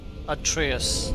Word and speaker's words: Atreus: Atreus, that's how you pronounce Atreus.